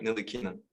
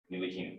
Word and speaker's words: Ntilikina: It's my Frank Ntilikina. Ntilikina. Ntilikina. Okay, Yeah. perfect. The T is silent.